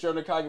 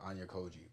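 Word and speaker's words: Ayanokōji: I'm gonna call this nigga Ayanokoji, but I'm skipping a syllable. Ayanokoji.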